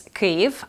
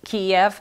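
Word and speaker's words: Kyiv: so well let's put it to rest it's kiev and it's spelled k-y-i-v kiev is the russian version of um of cave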